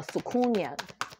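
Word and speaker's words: soucouyant: my culture we have this thing called a sukunya it's spelled s-o-u-c-o-u y-a-n-t and you know like when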